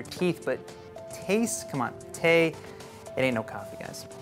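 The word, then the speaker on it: תה: totally hated that so today's word is Tay which is how you say tea in Hebrew so some people are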